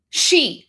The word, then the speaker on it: Xi: She President Xi Jinping. There you go. So, Xi is she.